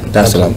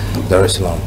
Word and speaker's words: Dar es Salaam: Did I pronounce that right? Yeah. Dar es Salaam. Okay, cool. Dar es Salaam.